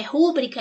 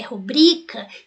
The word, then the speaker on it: rubrica: relação à sílaba tônica Será que eu falo rúbrica ou rubrica né então a forma não é rúbrica é rubrica isso estuda-se prosódia veja